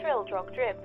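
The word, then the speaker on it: Trildrogdrib: trowel dragged up or trill drug drive for it is pronounced both ways as near as i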